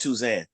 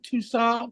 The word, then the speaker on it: Touzin: how you spell that tuzan t-o-u-d-i-n it's a French name everybody confused it with Tucson because of literature but